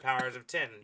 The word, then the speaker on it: Powers of X: pronounced powers oh sorry powers of X yeah pronounced powers of ten direct connection to swords of X swords of ten right yeah X of